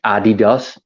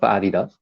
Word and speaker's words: Adidas: Well, I think it were more tennis shoes, New Balances, Adidas, or like we have to say, Adidas. Um, I just work. Adidas. I'm tweaking your pronunciation of Adidas. So Adidas.